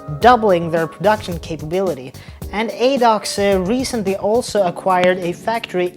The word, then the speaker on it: ADOX: film news now because ad do or ad do or however you want to call it depending on your nationality anyway it's spelled a